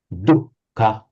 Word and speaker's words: dukkha: But I think we're all agreed that in Sanskrit, pronounced as a distinct h sound, dukkha. In Pali, just double the H without an initial, sorry, double the K, but with no initial H.